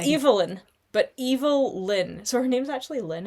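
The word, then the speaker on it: Evil-Lyn: Um, a little shout out to Allison Brave playing Evil Lynn. And I pronounce it like that because there is a I will spell this for you.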